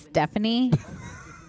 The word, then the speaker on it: Stefani: Gwen Stefani oh um it's pronounced Stephanie that's how they spell it the future oh is